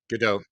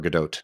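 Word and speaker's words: Gadot: I mean, people are piling on Gal GDO. I think it's actually a there's a T but it's pronounced either GDO or Gdote. Gdote. Okay. Yeah. But I I think the T is pronounced though.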